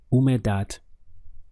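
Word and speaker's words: humedad: Spanish the word is who made that we have three syllables the H is silent so your pronunciation starts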